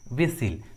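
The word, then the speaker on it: whistle: कुछ common English words में T silent होता है, जैसे Christmas, Christmas, लिसन, often, विसिल।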